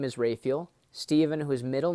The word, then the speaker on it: Raphael: And so, my dad's name, first of all, is Raphael, as he pronounces it. Some people say Raphael, but you know there's 3 archangels in Scripture.